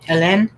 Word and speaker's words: Helene: I think Tennille said Helene. I'm going to say Hélène or Nell.